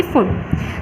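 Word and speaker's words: Pfund: Second है Balmer, third Paschen, fourth bracket and fifth one फुंड। Piece में silent है।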